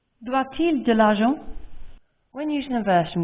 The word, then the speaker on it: doit-il: Doit-il de l'argent? Doit-il de l'argent? As you just heard, the T in doit is pronounced because il starts with a vowel. Doit-il de l'argent?